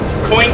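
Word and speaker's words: quoin: wedge that's right here coin spelled with a cube I am then going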